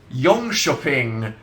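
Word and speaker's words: Jönköping: sorry so distracting um Yong shoing but it's spelled j n k o s h o p i n g so it's a silent k which is pronounced like a sh go Sweden uh it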